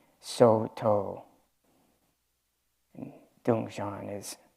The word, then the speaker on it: Soto: In Japanese, we pronounce it Soto.